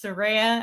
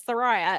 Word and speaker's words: Saraya: Well, that's she did the way And so, but I always thought it was Saraya. And so now I'm having to break myself of that habit of call her Saraya, because it is the correct way.